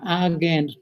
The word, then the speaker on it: Argand: this is called an argand plane and i hope no one asks me why is called an argan plane because the only reason i can tell you is that's how you pronounce a-r-g-a-n-d which is not a very